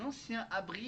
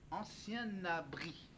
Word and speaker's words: ancien abri: Pour un ancien abri, il faut faire la liaison avec le dernier mot, avec la dernière lettre du mot qui le précède. Le mot qui précède abri, c'est ancien. Et la dernière lettre du mot ancien, c'est le N, alors il faut prononcer le N du mot ancien. Ancien abri. Ancien le N, abri. Ancien abri.